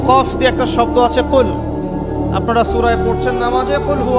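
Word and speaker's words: قل: কিন্তু আপনি যদি কফ এর মাখরাজটা ভুল করেন এবং কফ না বলে আপনি ছোট কাফ পড়েন এবং কুল না পড়ে আপনি পড়েন। বলেন যে কুলহু আল্লাহু আহাদ। তাহলে অর্থটা পরিবর্তন হবে।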